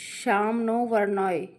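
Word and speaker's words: शं नो वरुणः: द एब्लम of Indian navy contain the motto some नो वरुण pronounce श्याम नो वरुण we means B एस्पिशियस टू अस और वरुण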